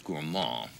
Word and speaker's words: gourmand: I mispronounced. It's gourmand.